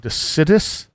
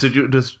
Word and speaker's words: deciduous: It's I never know how to say this word, decidus, Decidous. Deciduous.